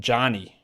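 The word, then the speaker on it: Johni: Johnny Broom's name is Jani.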